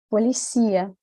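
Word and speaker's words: policía: deixa ver se dá para você escutar a pronúncia correta é policia bom essa daqui era fácil né porque tinha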